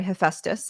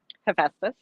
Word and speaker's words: Hephaestus: tell us, is essentially more forced to marry Hephaestus. That's how I pronounce it. But how do you pronounce it? Mm-hmm. Hephaestus. Mm-hmm. Hephaestus.